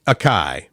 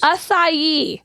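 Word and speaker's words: açaí: This one should be acai, but it is not. Acai. Oh my God. That word gets me every time. 4 letters. Acai. Come on. A-C-A-I. Like you look at the salad. Acai.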